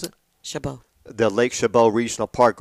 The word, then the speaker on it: Chabot: How do you pronounce it? Chabot.